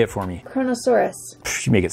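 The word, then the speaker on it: Kronosaurus: this one oh how am I going to pronounce this one camera mom go ahead and say it for me chronosaurus you make it sound easy okay Chrono hey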